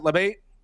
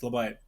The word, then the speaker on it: LeBite: Is that how you pronounce it, LeBate? It's LeBite. LeBite.